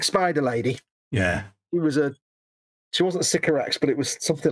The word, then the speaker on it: Sycorax: Which I've decided that Games Workshop don't pronounce correctly. Oh, right. Is this Fox speak coming up? So Bayek. They call it Sycorax bronze. No, Sycorax.